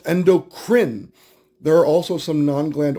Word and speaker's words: endocrine: It is pronounced endocrine.